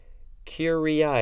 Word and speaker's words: curiae: can find out how to pronounce it correctly curie i yep amicus curie i a-m-i-c-u-s next word c-u-r-i-a-e